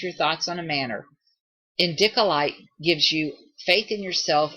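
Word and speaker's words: indicolite: you to change your thoughts on a manner endicolite gives you Faith In Yourself enhancing your creativity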